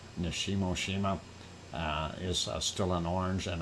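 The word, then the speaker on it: Nishinoshima: We still see Shimin Nishimo Shima. There we go. Got it pronounced correctly. Nishimo Shima is still in orange, and then of course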